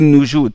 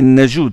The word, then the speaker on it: Najoud: Et on dit Asim ibn Abi Najoud parce que certains ils ne prononcent pas bien Najoud, ils disent Noujoud ou Najouad. Non, c'est Najoud, c'est comme ça que ça.